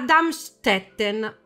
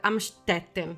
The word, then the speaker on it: Amstetten: Allora, Josef Fritzl nasce il 9 aprile 1935 a Darmstetten, Austria. Questa dovrebbe... Amstetten. Mi sono guardata i documentari apposta per fare la pronuncia.